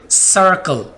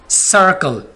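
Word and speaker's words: circle: Scene की आवाज़ कब होगी? जब सी के बाद आई आए, जैसे कि सर्कल, ये देखें सी के बाद आई आ गया, सर्कल, तो यहाँ पर आवाज़ काफ की नहीं आ रही बल्कि किसकी आ रही है? सीन की आ रही है, सर्कल।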